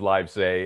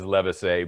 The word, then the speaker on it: Livesay: this guy and that's another thing we've always mispronounced john's name is live say and it it really is levisay but john never corrected anybody anyway nice it's